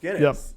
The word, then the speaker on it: Guinness: beer company so now I know that it's pronounced Guinness exactly oh okay so there you go cuz